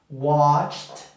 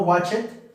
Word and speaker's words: watched: Watched. Watched. No watch it.